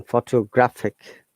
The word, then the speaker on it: photographic: As you see, in photograph, we're stressing on the first syllable. Okay, 3 syllables photograph, but we're stressing on pho and photographer. So 4 syllables, but we're stressing on 2. Then photographic, 4 syllables, but stressing on third sound.